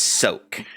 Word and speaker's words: Soak: It is soak. S-O-A-K That's literally is just how the it's way you said pronounced.